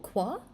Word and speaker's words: Qua: Oh, it's pronounced quack, but remove the CK at the end. Oh, qua?